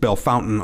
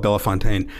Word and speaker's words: Bellefontaine: area I was born in the uh oft mispronounced Bellefontaine Ohio and uh I've never even heard it did you make that up no no no people call it Bella Fontaine I I grew uh who did most of